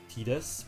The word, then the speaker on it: Tidus: And people say that Tidus is pronounced Tidus, which I do know that one is 100% true, but I hate that one.